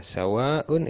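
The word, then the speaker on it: سواء: Sawaun itu artinya sama. Ini satu kata. Mad wajib mutasil, maka bacanya sawaun, ya, panjang wawnya. Waun, seperti itu.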